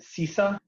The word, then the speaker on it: CISA: Going back to if I pronounce this correctly, is it CISA?